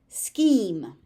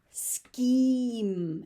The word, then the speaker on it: scheme: Scheme. Scheme. It's one syllable. SCH is pronounced sk.